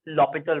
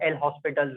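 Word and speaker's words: L'Hôpital: तो first and the foremost thing we have applied लॉपिटल rule और एल हॉस्पिटल rule, जो भी आप बोलते हो, जैसे भी प्रोनाउंस करते हो।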